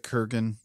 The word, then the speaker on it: Kurgan: And is it Kurgan or Crugen? The Kurgan. Oh, so I've been saying it wrong the whole time.